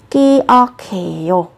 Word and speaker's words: 기억해요: Các bạn nối âm lên nhá, sẽ là 기억해요. Các bạn phát âm là 기억해요 cũng được.